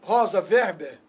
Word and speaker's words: Rosa Weber: Agora, eu acredito nessa alteração, primeiro, que a ministra Rosa Weber, tá certa a pronúncia? Sim.